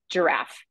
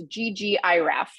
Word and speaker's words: ggiraph: I was pronouncing this GG iff uh but shortly afterwards learned that it's actually pronounced or intended to be pronounced as giraffe um so if you're